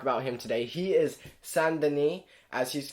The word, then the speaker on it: Saint Denis: wanted to talk about him today he is son Denis as he's called in France which is where